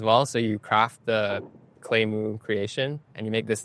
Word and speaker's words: Claymoo: Is that how you pronounce it? Claymoo.